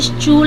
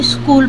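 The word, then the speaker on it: school: अब आप देखेंगे कि एस के बाद सी एच है तो यहां पे स् चूल नहीं स्कूल पढ़ा जाता है यह होता है रीडिंग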